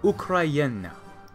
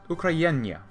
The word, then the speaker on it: Україна: So the Ukraine, from my understanding, is somewhat slightly pronounced kind of like Ukraina, Ukrainya. Ukraina, something like that.